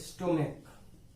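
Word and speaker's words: stomach: अब ये CH जो है यहाँ पे आप इसे च नहीं पढ़ते हैं, क पढ़ते हैं। क्या इसका प्रोनाउंसिएशन करते हैं, स्टोमक। तो क इसका जो है वो प्रोनाउंसिएशन है।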